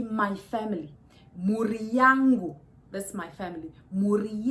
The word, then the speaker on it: mhuri: Mhuri. Say Mhuri.